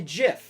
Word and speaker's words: GIF: g i f jeff you say jif like the peanut butter is it gift i